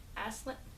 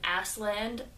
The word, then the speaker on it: Aslan: Aslan? I chose the lion. I think it's pronounced Aslan. But now I'm second guessing myself because my mom likes to call him Assland, as in land of asses.